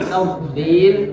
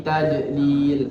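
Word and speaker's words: تضليل: Baik, kemudian fi tafdil, di situ hurufnya adalah huruf do, bukan huruf dal. Karena yang sering terjadi di sini adalah diganti dengan huruf dal. Fi tadlil, tidak. Tapi di situ ada huruf do, tafdil.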